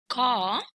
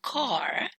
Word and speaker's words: car: or British English, and car, that belongs to General American. But remember that RP or British English is a non-rhotic accent. So this means that the sound is not pronounced whenever it comes after a vowel sound.